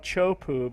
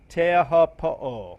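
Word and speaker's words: Teahupo'o: A lot of people call it Chopu, but that's not the correct pronunciation. Teahopo'o, I think it's close enough, but we're going to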